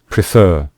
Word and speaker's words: prefer: you can see here we stress the final syllable when we say prefer we say prefer so that is why